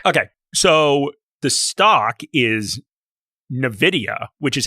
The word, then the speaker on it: Nvidia: So common that the company has come out and told everyone how to pronounce it. And they said it was Nvidia.